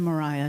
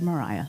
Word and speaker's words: Maria: notice right away that her first name is spelled her middle name spelled in a way that most people would say Maria but she said Mariah Lydia Mariah child does